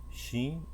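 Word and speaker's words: שׁ: Se o ponto for do lado direito, será Shin.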